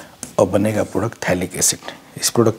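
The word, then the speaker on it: phthalic acid: भी रहेगा थैलिक्स इड लिखते पी से है लेकिन प साइलेंट है पढ़ते क्या है लिक एसिड कई बार नाम आएगा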